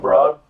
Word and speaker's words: Broad: the operation there Steve broad right he say his last name spelled spelled broad pronounced bro so okay he loves